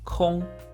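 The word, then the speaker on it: 空: you pronounce this character Kong in first tone it has a sense of void or emptiness in four tone however it means free time therefore y means to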